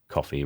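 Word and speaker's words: Ko-fi: some donations on there is it coffee or is it Coke coffee or something like that um I think the default message is is thanks for buying me a coffee and it's spelled Kofi so it would make sense that it would be coffee rather than anyway I digress um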